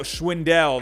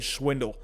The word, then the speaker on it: Schwindel: uh oh wait no i'm saying his name wrong again oh no schwendell that's what it was i'm sorry i'm sorry i'm saying swindle schwendell uh but yeah so